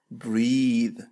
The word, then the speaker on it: breathe: هنا لدينا فعل يتنفس وتنطق breathe. إذن الاسم هو breath والفعل ينطق breathe.